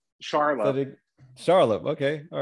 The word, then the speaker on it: Charlop: last name no it wasn't too bad Charlie pronounce it Charlotte okay all right all right yeah all right